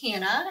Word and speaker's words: Hannah: Some of you might know, my name is Miss Hannah, and it rhymes with something very special. Do you see it? That's right! It rhymes with banana!